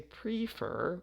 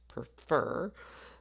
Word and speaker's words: prefer: So if we have a verb where the last syllable is stressed, as in the verb prefer, so we stress that last, we don't say prefer, it's prefer, then you have to double the consonant.